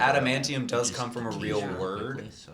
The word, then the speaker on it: adamantium: Okay, I thought I had been pronouncing adamantium.